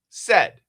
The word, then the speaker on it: said: This pronunciation is in American phonics a short e said.